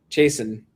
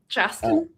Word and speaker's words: Chasten: So they were like, Pete voted for Haley Stevens, but Chasten, right? Is that how it's pronounced? Chasten?